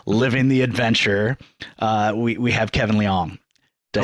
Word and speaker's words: Liang: We have Kevin Liang.